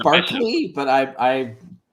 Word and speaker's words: Berkeley: uh berkeley or or berkeley uh hopefully i didn't pronounce that wrong i know there's two different ways to say it oh the the philosopher uh yes uh i think it's barkley but i i'm not